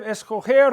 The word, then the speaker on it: escoger: Because the G in the infinitive, escoger, recoger, coger, and all the others, it's a soft G.